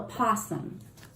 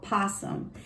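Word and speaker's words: opossum: it it's called a possum and i looked it up it's spelled with an o but you don't say the o how cool is that i did not know that it's called possum and possums can you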